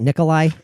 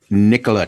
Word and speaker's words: Nikola: on a side note kind of do you pronounce it Nikolai Nikolai Tesla I I I said I said Nia I don't Nia did not sound right Nicola Tesla Nicola yeah and I think the reason